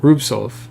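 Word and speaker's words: Rubtsov: Rube Stove. I can't say it right. It's not stove. There's the T is before the S, which is humanly unpronounceable. Oh, I guess if the T's silent. Rubsov.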